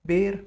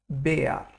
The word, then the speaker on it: Bär: Now, R in German is a strong letter. It's pronounced like AR. So we'll not pronounce this like bear. We'll rather say it Bär.